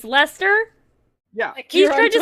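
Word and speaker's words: Leicester: apparently kevin doesn't like newcastle thank you wait lester literally it's lester yeah he's trying to say lancaster and he's a babe look how spelled spelled light chests lychester but it's pronounced less okay england can you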